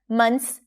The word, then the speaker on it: months: 'then a couple months ago', notice how we dropped the TH here, you don't have to pronounce it - 'mons'.